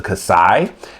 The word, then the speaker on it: Xi: I call it the Kasee because it seems like that's the way that they pronounce it in Japan. I've heard it pronounced in the American dub as the Kasai.